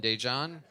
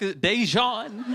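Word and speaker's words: Daegen: His name is spelled D-A-E, which is day. And then it's G-E-N. I know it's spelled confusing.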